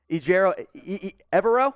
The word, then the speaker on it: Ejiro Evero: Ejiro, Evero? It's not Evero, Evero. Ejiro Evero. Thank you, Petey.